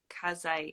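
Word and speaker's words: Kiese: But so here's I'm always mispronouncing Yeah. Mr. Lehman's first name. He was just on David Young's podcast. And it was like Kazai. It was not what I Yeah. expected.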